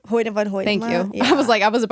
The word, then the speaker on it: Hoyte van Hoytema: Hoyte van Hoytema.